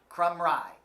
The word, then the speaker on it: Crumry: Crumry is how you say that. He informed us that was the way you say it.